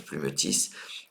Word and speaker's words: plumetis: Grenetti, aliotis, myosotis et plumetis, parce que le S se prononce plumetis.